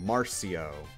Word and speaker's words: Marcio: Say Mar, then C, then say O. Marcio.